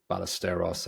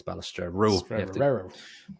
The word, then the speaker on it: Balestrero: and then Balestrero was just so much like Ballesteros. I was like, Sevi. yeah, it was just Balestrero, and there's an R after the T, so it's not even Ballestero, it's Balestrero.